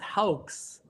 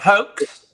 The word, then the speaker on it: Haux: Well, it's actually pronounced Haux. Haux. Okay. Awesome. Well, not hoax.